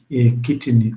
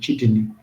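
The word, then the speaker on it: chitin: of what we call glucans and kitten or kittin the way you pronounce it.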